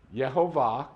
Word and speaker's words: Yehovah: But Yehovah, and I went through a whole teaching a couple years ago of why we know it's Yehovah, and it's proven that that's how this is pronounced, Yehovah, Yireh.